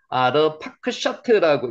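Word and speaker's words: אַרְפַּכְשַׁד: 아르파크샤트라고 읽혀집니다.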